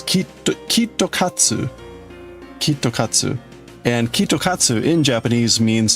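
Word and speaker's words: キットカット: Japan is that um in Japanese, KitKat to pronounce that in Japanese, it's Kito Kitosu. Kitokatsu and Kitokatu in Japanese means to like complete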